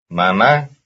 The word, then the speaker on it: mamá: Mamá. Mamá. Mama, mama, that's the second syllable.